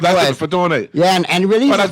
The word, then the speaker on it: Fatone: Fatone, that's how you pronounce it. Fatone.